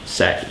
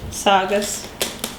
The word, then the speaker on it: Saugus: That's not Sagus. What'd you Sagus? Saugus. Saugus? I'd fit a long A in there somehow. Okay, because I said Saugus, right? Yeah. Yeah, Saugus. Like sausage, but missing some letters and not at all sausage.